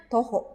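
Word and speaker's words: 徒歩: Ya, toho dibacanya toho 5 分 desu.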